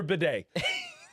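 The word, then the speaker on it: Badie: Who the fuck is Tyler Bidet? And his name is not spelled bidet, it's spelled B-A-D-I-E.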